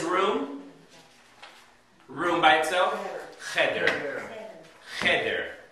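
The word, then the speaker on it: חדר: Cheder. The accent's on the first syllable, not the second.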